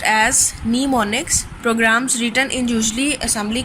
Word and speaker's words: mnemonics: Pronounced as mnemonics, programs written in usually assembly code are translated into machine code by an assembler.